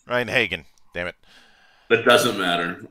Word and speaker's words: Rein-Hagen: Rein-Hagen. Rein-Hagen.